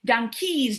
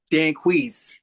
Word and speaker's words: Danquis: His name is Danke. Hello Danis. Hello Daniela. Thank you for having me. Did I pronounce this well? It's Danquiz.